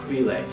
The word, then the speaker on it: chwilę: It means like for a period of time, you know, and so it's like, oh, while, chwile. It's like pronouncing while with all of the vowels, you know, chwile.